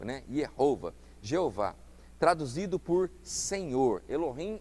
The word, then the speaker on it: Jeová: A pronúncia mais certa seria Yehová no hebraico, né? Yehová, Jeová, traduzido por Senhor.